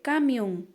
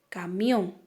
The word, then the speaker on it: camión: que colocarla siempre porque si por ejemplo yo digo aquí tengo una palabra que dice cambio si yo no le pondría la tilde pero si yo le colocó la tilde donde corresponde entonces voy a decir camión de esto se trata